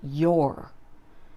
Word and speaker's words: you're: is your don't say you're it's a contraction of you and our it should be pronounced your he plus is is